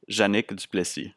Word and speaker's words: Janic: I say that correctly janique yeah that's close enough close enough can you say it for people so that we get the right pronunciation with my best French Canadian accent it would be Janik okay yeah I I